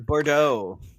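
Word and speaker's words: Bourdeaux: How do you say her last name? Carolyn Bordeaux. That says that? Yes. It's French. I don't know her. Bordeaux.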